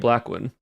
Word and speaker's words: Blackwyn: It's spelled in the sense of Blackwyn. Y. Blackwyn. Like wyvern in the sense. Blackwyn. Yep. Just like that.